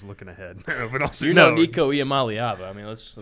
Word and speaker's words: Iamaleava: But also, Nico Iamaleava. I mean, let's not stray too far. Yeah. Well done on the pronunciation.